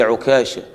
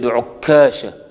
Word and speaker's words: عكاشة: But at that time, I used to say Okasha. without shadda on the kaf.